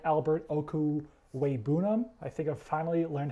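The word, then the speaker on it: Okwuegbunam: have the greatest athleticism I do like Albert okuu way bounnam I think I've finally learned how to pronounce that name I'm not just going with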